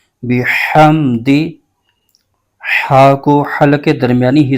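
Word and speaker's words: بِحَمْدِ: زیر بح، فسبح فسبح۔ آگے با کے نیچے زیر ہے، بغیر کھینچے پڑھیں گے، ہا پر زبر ہے اور آگے میم ساکن ہے، اس کو ہا کے ساتھ ملائیں گے۔ دال کے نیچے زیر ہے، اس کو بغیر کھینچے پڑھیں گے۔ اس کے ہجے یوں کریں گے، با زیر بی، ح میم زبر حم، بحم، دال زیر دی، بحمدی۔ ہا کو حلق کے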